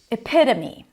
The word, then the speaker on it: epitome: The next word is epitome. Epito. Ep flap t. If we're thinking about American pronunciation, epitome.